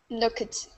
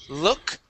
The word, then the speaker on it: looked: Looked. Okay, so instead of saying look it, we go right to a T sound. Looked.